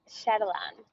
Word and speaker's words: Sherylanne: Sherylanne.